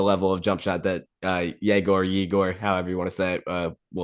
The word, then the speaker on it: Yegor: But yeah, so let's transition now to your guy at 8, Igor, or I guess Yegor. They're saying is how you pronounce it, Yegor However you want to Brevis.